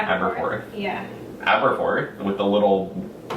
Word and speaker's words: Aberforth: Aberforth.